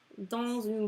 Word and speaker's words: dans un: You say dans le nord because there's like a consonant, and here there's a vowel, so you say dans un. So you said like a Z.